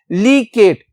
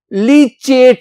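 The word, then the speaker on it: leachate: लीकेट, दो तरह से हम इसको ना प्रोनाउंस कर सकते हैं, लीकेट भी कह लो, लीचेट भी कह लो, चेट या केट, लीकेट, लीचेट।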